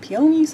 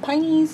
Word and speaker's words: peonies: Some people call them peonies, some people call them pineys.